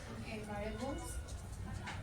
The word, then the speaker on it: variable: We need to improve it a little bit because you spell it V-A, but you pronounce it with a diphthong. Como la fruta, la pera. Pear.